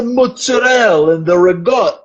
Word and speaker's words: mozzarella: We always It's the mozzarell. So it's it's the way to say. Okay. Well, apparent it's that very like Italian American pronunciation.